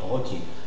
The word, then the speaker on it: rôti: Rôti. Même si tu as l'accent circonflexe, tu prononces le O ouvert.